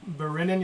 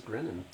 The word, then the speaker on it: Berinin: He gestures I to thought the you said his name was Grinnin. Berinin. Oh, Berinin. Okay. Berinn. It's like Brennan, but it's like With a B.